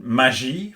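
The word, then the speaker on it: magie: So in French the sound is always the same. It's what I call the soft sound here which is valid for the G if it's followed by an E or an I like in maji for example which means magic.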